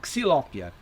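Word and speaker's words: Xylopia: São todas anonáceas do gênero Xilópia, ou Xilópia. Essa é a pronúncia correta.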